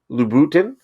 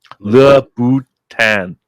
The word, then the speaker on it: Louboutin: Christian Louboutin.